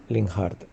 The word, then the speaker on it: Linhart: Con lo cual, en mi opinión, la pronunciación más correcta, aunque sea otra, sería Linhart.